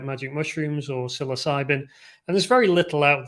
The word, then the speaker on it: psilocybin: me say this in the comments sounds like sil e cybin oh psilocybin psilocybin not a not a sound but psilocybin